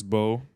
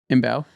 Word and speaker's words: Mbow: I thought it was just pronounced Bow. Mbow. MBOW. I think it's Mbow. Yeah, it's MBOW, but I thought the M was silent.